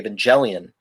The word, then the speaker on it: Evangelion: so i you know i pronounced it with the soft g evangelion uh because it's it's